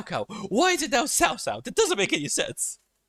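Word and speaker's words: Cao Cao: Sao Sao used to be called Cow Cow because that's how it was written, and the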